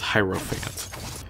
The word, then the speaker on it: Hierophant: thinking about it I'll try my best to pronounce it as hyro Fant there's a gatekeeper on a floor not far